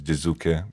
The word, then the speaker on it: Jiizuke: we call him, usually when people pronounce his name wrong, that is what we call him, but most of the time it's Jiizuke, because that's what he wants to be called.